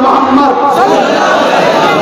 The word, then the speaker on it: মোহাম্মদ: আপনারা সবাই একবার বলুন মোহাম্মদ, আপনারা উচ্চারণ করুন মোহাম্মদ। জ্ঞান করতে কোন নবীর নাম নিলে দুই ঠোঁটে ঠোঁট ঠেকছে, বলুন মোহাম্মদ।